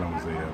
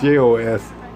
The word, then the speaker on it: Joses: Oh, not Hosea, but you know, it's Joses, and Jude and Simon.